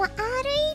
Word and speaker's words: re: 엔트rr리 아~ No.2 도쿄구울 : re 이쪽은 "아루이" 도 오케마루!! 라고합니다! (*RE를 발음하면 아루이) 이것은 놀랍게도 전작의 주인공인 카네키군이 메인의